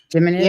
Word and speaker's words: Geminids: Geminids?